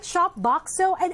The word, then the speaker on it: Shopboxo: Okay, did I pronounce that right? Shopboxo? And why the name? Yeah, that's correct.